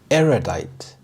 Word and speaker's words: erudite: Erudite. Erudite. The stress is on the first syllable, erudite. This means showing great knowledge or learning.